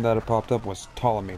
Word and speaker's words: Ptolemy: Those of you who don't know, like I did, that's not Ptolemy. That name that it popped up was Ptolemy. The P is silent.